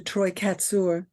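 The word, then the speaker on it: Troy Kotsur: Sometimes you feel, when I saw the movie Coda, because I knew the actor Troy Katsur is how you say his name, who plays the father in Coda.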